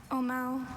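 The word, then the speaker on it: ʻōmaʻo: Your word is Omao. Omao.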